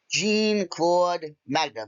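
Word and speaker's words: Jean Claude Magnum: Quick note, I was calling him Jock. His name is Gene. Gene Claude Magnum. You don't need to comment. I got the name wrong.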